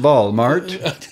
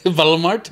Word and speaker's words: Walmart: we don't yeah yeah it's pronounced ball mart valmart yeah because we don't say well I guess if you'd say it over here it'd be about Walmart right for the two bees oh to make a